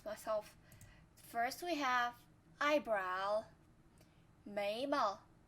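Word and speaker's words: 眉毛: 眉毛眉毛 Don't say 眉毛 if you know the pronunciation of this character, because when describing any parts of your face, most of the time we use slight tone for the second character.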